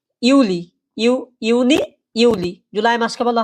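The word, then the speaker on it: Juli: যেটা জুলাই মাস জুলাই মাসকে বলা হয় কি ইউলি ইউনি ইউলি জুলাই মাসকে বলা হয় ইউলি আর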